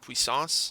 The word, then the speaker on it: Puissance: we're also taking Pyromancer's Puissance. So that's this word was annoying. I had to look up how to say it because it's actually just a French word.